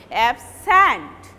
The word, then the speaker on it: absent: Suppose absent, absent, and when you are pronouncing it as a verb, you will pronounce the second syllable loudly, absent.